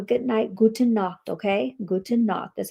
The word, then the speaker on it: Gute Nacht: Gute Nacht.